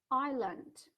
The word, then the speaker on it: island: player, winter sports, popular, island. Обратите внимание на произношение этого слова, да? В правописании мы пишем I-S-L-A-N-D, но S is silent, то есть S не произносится.